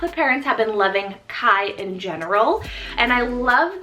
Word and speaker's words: Kaj: Kai. Now this one's a Danish name meaning earth. So I thought this one was really different, as lots of people and lots of parents have been loving Kai in general.